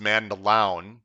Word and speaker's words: Mandaloun: It was right when we were talking about Mandaloun. By the way, it's pronounced Mandaloun, I've been told, which is his top choice.